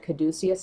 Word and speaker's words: caduceus: this this particular card I think this is called a caduceus I could be completely wrong but I saw that word on one of my decks and I didn't know how to pronounce it and then I watched another reader and she said caduceus and I was like ah me that's a way that you say that so but it's that